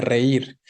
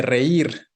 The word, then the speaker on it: reír: Por su parte, hazme reír. ¿Dónde va el acento de hazme reír? En la I, ¿no? Exacto. Entonces, recuerden, no es hazme reír, sino hazme reír, ¿no? La tonicidad está en la última sílaba.